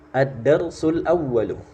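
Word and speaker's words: الدرس الأول: pertama di situ tertulis addarsul awalu addarsul awalu nah cara bacanya seperti itu di situ ada kata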